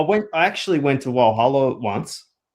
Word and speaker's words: Walhalla: No, the one the one with the one they pronounce with the W in Gippsland.